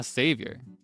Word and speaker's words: Xavier: Pronounced Xavier? Ah, I see. Ah, Savior. That's kind of cute. Like Savior, like hero.